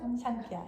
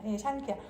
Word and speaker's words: 샹키아: 그러니까 그러면 대충 발음 그냥 굴리세요. 살짝 그냥 굴리세요. 샹키아. 샹키아.